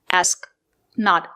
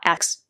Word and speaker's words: ask: The two letters s and k make the sound sk not ks. The word is pronounced ask not aks.